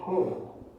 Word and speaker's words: 敬: The second character is pronounced as kei, meaning respect.